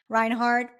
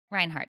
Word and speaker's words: Reinhardt: I'm How do you super pronounce excited your to be last here. name? Reinhardt. Reinhardt.